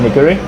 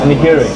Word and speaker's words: nigiri: It's like in Japanese it's called nigiri. How you say again? Nigiri.